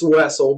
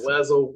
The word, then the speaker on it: Wessel: excellent guest Mr Charles Wessel did I pronounce pronounce that last name correctly it's Wessel but yeah wazzle weasel well so I I get called all kinds